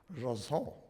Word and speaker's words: JSON: Also, there's confusion about how it's pronounced. I say Jason. A lot of people say JSON. It turns out the correct pronunciation is JSON.